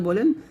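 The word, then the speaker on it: ب: বা এটা হচ্ছে ওয়াও বা যখন উচ্চারণ করবেন দুইটা ঠোঁট মিল করে উচ্চারণ করবেন আর ওয়াও টা দুই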